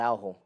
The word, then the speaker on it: Araujo: Jay is silent. Araujo. Come on, man. I know you know that. It's Araujo. What? He's Brazilian. Araujo? Is Araujo. When they're Brazilian, Really? they don't say their J's like that.